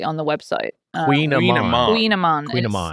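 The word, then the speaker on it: kouign-amann: Queen Amman. Queen Amman. It's spelled.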